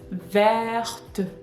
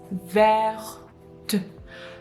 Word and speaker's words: verte: So E is not technically pronounced, but it influences the last consonant T. T is pronounced in the position of E.